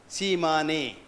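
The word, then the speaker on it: Tsimane: It's spelled as T-S-I-A-M-N-E, Shimane.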